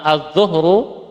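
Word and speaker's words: الظهر: azzahru Nah ini bisa dibaca azzahru bisa dibaca azzuhru kalau azzahru pakai fathah artinya punggung kalau dibaca dah azzuhru waktu Zuhur waktu Zuhur nah ini Dilihat konteks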